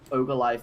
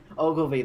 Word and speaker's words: Ogilvy: have to talk about Ogilive Maurice Hedgehog. So let's not do that. Fucking Ogilvy. Ogilvy, that's the one.